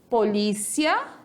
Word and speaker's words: polícia: Então, como eu disse para vocês, polícia e policia. Português, paroxítona e espanhol, oxítona, certo?